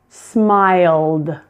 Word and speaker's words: smiled: Smile, smiled. Stay, stayed. And please, pleased. Again, note that the E's are silent there. Just pronounce the D, not ed, but D.